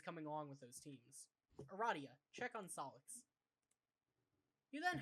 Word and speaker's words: Aradia: I can't remember how her name's pronounced. I am. Aradia.